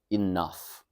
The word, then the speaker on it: enough: So enough enough it's the n sound enough the f sound.